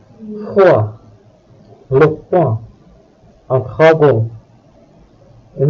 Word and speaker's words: froid: All other consonant letters are usually not pronounced. Froid, le point, un dragon.